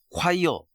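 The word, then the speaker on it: choir: 뽀뽀뽀 트럼펫 소리 나오고 콰이어 그건 내 친구는 처음에 초이르라고 읽었다고 하더라.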